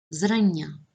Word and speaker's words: зрання: наголос на першому складі зрання наголос на першому складі разом наголос на першому